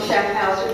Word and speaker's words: Schaffhauser: Schaffhauser Electric Company, LLC, Schaffhauser. Did I pronounce that correctly? Is here? Yes, ma'am. Okay, so I said that right.